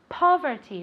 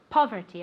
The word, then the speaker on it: poverty: say this very good poverty poverty with an accent on the first syllable poverty okay let's see if